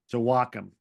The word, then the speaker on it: Joachim: Joachim.